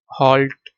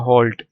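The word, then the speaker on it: halt: लेकिन हल्ट नहीं पढ़ना। इसको पढ़ना है होल्ड। प्रोनाउंस कैसे होगी? एच ओ एल टी। होल्ट। ठीक है? प्रोनाउंस ऐसे करना है। होल्ट लेकिन लिखना ऐसे है।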